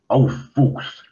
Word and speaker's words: Aufwuchs: However, you do have to be a little careful if you're using the German pronunciation of Aufwuchs, that people do not think you've said something else unfortunate.